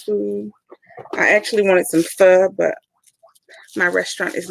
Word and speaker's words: pho: Pho, it's is it Korean? No. Yeah, it's a Korean soup. It's Korean soup. PHO. It's pronounced pho.